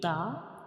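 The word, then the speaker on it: ت: And when we pronounce the we touch the tip of tongue to the gums of upper front two teeth. When we pronounce the we touch the tip of gums to the upper front two teeth. So this is the back side of teeth. We touch the inner gums. We touch the inner gums when we give Ta like the T.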